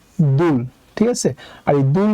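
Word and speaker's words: 둘: হচ্ছে দুল ঠিক আছে তো দুল এখানে আছে হচ্ছে দ্বিগু দ্বিগুতের জন্য আমরা নিলাম দ আর দ্বিগুতের নিচে আছে উরবর্ণ আছে উ এর জন্য নিলাম একটা বসু আর নিচে আছে হচ্ছে ঋউন আর ঋউন নিচে বসলে হবে ল তাই উচ্চারণ হবে দুল ঠিক আছে আর এই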